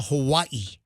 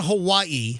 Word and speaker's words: Hawaii: We were flying to Hawaii. Michelle and I and the kids, we were going to Hawaii.